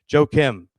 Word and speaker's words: Joachim: uh thanks Rob for telling me how to pronounce that correctly. Joachim Uh Joachim Trier, one of my favorite filmmakers, but Sentimental Value did nothing for me.